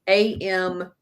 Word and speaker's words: America: That's spelled America, but it's Amerika.